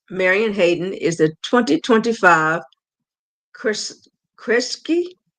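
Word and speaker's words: Kresge: And I'll need somebody to help me with a pronunciation, but basist Marian Hayden is the 2025 Chris Kriski. Yeah, that's foundation. Yeah, Krisky foundation.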